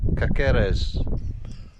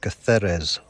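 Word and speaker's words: Cáceres: and upwards today and off we go to kakerez voiceover required at this point it's pronounced catheres catharas also turned out to be a lovely surprise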